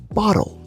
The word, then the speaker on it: bottle: Now remember, when it comes to the American accent, the two T's inside of bottle is pronounced with a D sound. So instead of bottle, it becomes bottle.